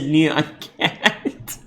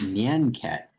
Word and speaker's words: Nyan Cat: Transform your YouTube progress bar into Neon Cat.